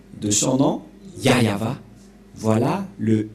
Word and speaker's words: Yahvah: ne voit rien et donc c'est bien la prononciation de son nom yayava voilà le y et voilà la suite après